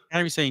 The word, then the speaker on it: Kairi Sane: Io Sky and Kairi Sane? Am I saying it right? Kairi Sane? Kairi Sane, yeah.